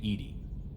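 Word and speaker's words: EDI: have a specific inquiry why are you named Ed Ed is the phonetic pronunciation of Eed that is an acronym for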